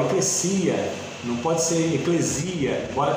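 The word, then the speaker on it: ἐκκλησία: Corrigindo a pronúncia, porque a gente fala eclésia pelo aportuguesamento, né, da palavra, mas é eclesia, tá?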